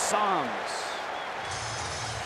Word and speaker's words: Sams: His last name pronounced Sams.